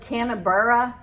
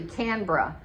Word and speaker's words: Canberra: Like Canberra, that it looks like it's spelled Canberra, the capital city, but it's actually Canberra.